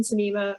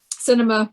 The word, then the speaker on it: Sinema: right now and kirsten sinema um cinema whatever i keep on pronouncing your name a different way than you do i thought it was cinema no cinema okay anyway almost like cinnamon yeah um she's yeah